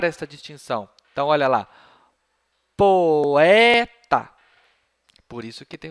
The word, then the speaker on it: poeta: No caso dessa palavrinha aqui, o O e o E, não, você não vai pronunciar tudo junto como se fosse E, como na palavra mirror. Você vai pronunciar separadamente.